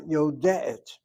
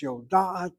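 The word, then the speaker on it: יודעת: Why is this not yodeet? Well, what you have here is laryngeal letter. That laryngeal letter, that lamed ayin, causes the sego before and the sego after to be converted into a patach. That's why it's yodaat and not yodeet.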